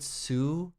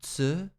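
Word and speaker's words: つ: names like uh serge you said sue and it's technically tsu i wonder if we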